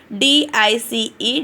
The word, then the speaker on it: dice: Okay, let's learn how to pronounce long I sound in these words. Okay. D-I-C-E, dice.